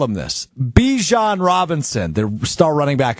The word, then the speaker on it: Bijan: Bijan Robinson, the star running back of the Atlanta Falcons, joined NFL Network this weekend to bring some attention to a pressing matter regarding Bijan Robinson.